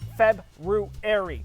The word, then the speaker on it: February: month of february february there's an r in there dude it's february you're the only one i know that says it like that i'm the only one who says it right hey there and